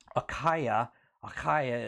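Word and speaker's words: Achaia: is norther in the northern region of greece a kyuh kyuh is how it's pronounced is the region in the south and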